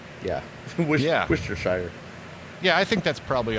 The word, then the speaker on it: Worcestershire: So I don't even know if that's real because it's not the way it's spelled. The way it's spelled is Worcestershire. Well, a couple more Tito's and I won't even be able to spit that one out. Worcestershire.